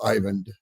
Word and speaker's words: Eivind: I we try to It's pronounced many different ways obviously but it's an old Norwegian name and uh it's Ivan yes good if I